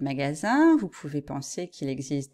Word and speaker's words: magasin: anglophones se tromper mais parfois j'ai l'impression que c'est à cause de la prononciation ya une petite confusion parce que il n en anglais ça fait in et du coup les choses se mélangent dans la tête des étudiants et des étudiantes alors si c'est votre cas si vous savez que vous avez tendance à dire magazine au lieu de magasins vous pouvez penser qu'il